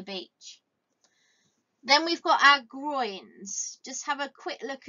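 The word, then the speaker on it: groynes: Then we've got our groins. Just have a quick look at how you spell that word groins.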